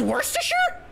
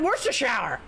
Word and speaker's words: Worcestershire: this anything oh yeah then what's this it's pronounced Worcestershire I always pronounce it where's the shower damn you are the real